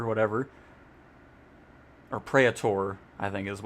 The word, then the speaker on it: Praetor: Praetor, whatever. Or Praetor, I think is how it's actually pronounced.